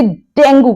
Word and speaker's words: dengue: अगर कोई इस बीमारी से पीड़ित है तो आप कहेंगे ही is suffering from डेंगी, तो डेंगू नहीं, डेंगी।